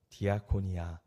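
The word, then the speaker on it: διακονία: 섬김과 봉사를 헬라어로는 뭐라고 표현하고 있느냐 뭐라고 표현할까요 디아코니아 디아 코노 이렇게 코네오 이렇게 발음하고 있어요이 디아코니아 봉사와 섬김을 헬라어로 말하고 있죠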